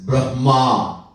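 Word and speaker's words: Brahman: creates the world is Brahma so a big difference have to be careful sometime when we pronounce there's a big difference between brah and Brahma all right anyhow so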